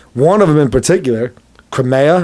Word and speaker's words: Crimea: of them in particular crimea i think is what kamea i'm not sure how it's pronounced kermesha no c-r-i-m-e-a all right it's it's like ukraine's like i think it's like crimea crimea that's it crimea uh it's of room